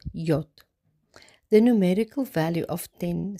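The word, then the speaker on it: יוד: This section of 8 verses commences with the 10th letter of the Hebrew alphabet, which is pronounced Yod.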